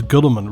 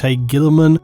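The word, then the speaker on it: Guilliman: something like this where they pronounce it as Gulliman, Robot Gulliman. I've heard it definitely said that way before, but then suddenly now it's Robute Gilliman.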